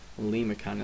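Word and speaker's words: limaçon: Lemicon, it's pronounced lemicon. That I has got like an E sound to it.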